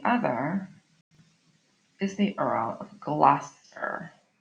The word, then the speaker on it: Gloucester: So this is pronounced Gloucester, okay? And you might even be so unfortunate as to hear another teacher pronounce it wrong. It is Gloucester, and that's Regan, not Reagan, Regan.